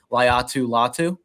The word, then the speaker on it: Latu: to say this name Dives can correct me latu latu yeah that's it nailed it all right cool